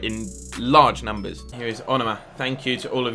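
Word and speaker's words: Onomah: Here is Onoma. Thank you to all of you that told me I was pronouncing it wrong and told me how to say it.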